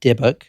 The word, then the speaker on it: Dybbuk: word the deic box which is spelled dybb u k debuk that is how you say it Kevin Manis a granddaughter